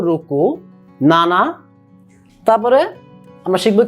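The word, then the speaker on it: ろく: রুকু। রো লিখলে রুকু, বাংলাতে উচ্চারণ রুকু।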